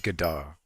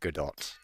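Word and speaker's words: Godot: I know it's pronounced Gdar, but what if I just started saying Gdot or God dot?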